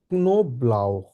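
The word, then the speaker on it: Knoblauch: নো brow দেয়া নো এটাকে আমরা বলে হচ্ছে কা এন ও এটাকে বলে হচ্ছে নো কে এন ও আছে যেহেতু নো বলবো তারপর হচ্ছে ব্লাউ বে এল আ উসে হাহা ব্লাউ নো ব্লাউ নো ব্লাউ নো ব্লাউ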